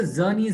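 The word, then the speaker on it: Czerny: It's called the Zernes retractor, which starts with the C. The C is silent.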